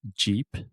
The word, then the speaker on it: Jeep: And then Jeep has the Jeep.